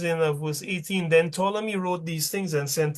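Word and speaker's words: Ptolemy: So when Simon and his sons had drunk larely largely the Tommy and Tommy is just to me you don't pronounce the P.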